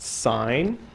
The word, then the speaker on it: sin: n cos t n the first one is pronounced sign this is apparently an abbreviation they just took the e off okay so the sine